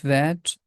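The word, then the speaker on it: ثاء: We can represent this sound with th. The tip of tongue is touching with the edges of frontal teeth, and the small portion of the tip comes out from the mouth.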